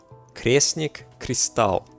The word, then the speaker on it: Kresnik Crystal: Kresnik Crystal. That's how you gotta pronounce it.